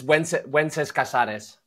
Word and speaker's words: Wences Casares: Yeah, it's Wences Casares. If you want to say it in Spanish, it's Wenceslao Casares is his whole name, but Wences is what you know people call her, how people pronounce it in English. It's very similar to Wednesday. In German? No, the English word for Wednesday, like Wednesday.